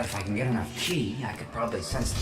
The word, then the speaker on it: qi: Also, I just realized sometimes they write it ki, sometimes they write it qi, and but every time they pronounce it chi.